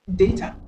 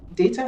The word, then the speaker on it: data: Donc, on a par exemple data. Data, ça, c'est la prononciation british.